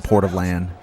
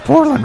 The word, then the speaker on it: Portland: when they when touchdown in the port of land it's Portland Ricky that's how you pronounce it uh but yeah that